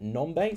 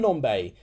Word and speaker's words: Nombe: of that game but Sam new um no no bet nombe sorry Sam nombay that's how you say it so X is still